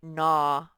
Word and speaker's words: gnaw: a word says gn says and here's an example the word nah when you keep on biting something over and over again you not at it like a beaver might gnaw on the bark of a tree or he might gnaw on a branch until it comes off the stump so this says gnaw it's different from a bite